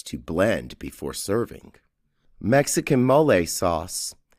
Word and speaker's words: mole: blend before serving Mexican mle sauce Mexican mle sauce pronounced mole is considered to be